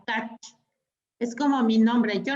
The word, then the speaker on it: Tkach: La T no se pronuncia. Kach.